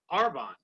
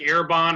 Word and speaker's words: Arbonne: started talking about was arbonne and it was oh you said it right this time i did listen i have to apologize because normally it comes out like air bond or bomb something i